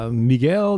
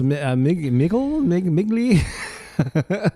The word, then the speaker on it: Migli: And is it, boy, I always, is it Miguel? No, it's Migli.